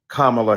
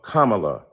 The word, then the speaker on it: Kamala: insisted upon misnaming mispronouncing comma Harris do you call Melania Melania do you call Ivanka Ivanka then call Kamala Kamala then call vice president